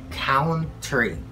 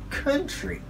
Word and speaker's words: country: Number 12, we don't say country, so it's country, country, country.